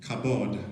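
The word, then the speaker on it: כבוד: word for glory is kabod it's actually three letters it's kind of like k and uh either b or v and d okay b and v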